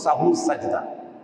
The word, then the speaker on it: সাহু সেজদা: এটার উচ্চারণ শুদ্ধ উচ্চারণ হল সাহু সেজদা।